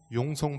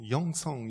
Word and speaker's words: 용성: 기도생활 저는 외국에 나가면 항상 외국인들이 용성 발음을 못해서 영성 영성 그래요 그래서 제 이름을 부를